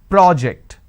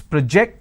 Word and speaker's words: project: a first one so when i'm stressing on the first syllable it becomes a noun that means please submit the project i say project this is project here i say please project the presentation here i say